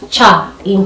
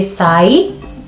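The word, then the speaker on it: cai: C is our sa sound, it is our sha sound, it is our cha sound, it is cha sa sha, cha sa sha.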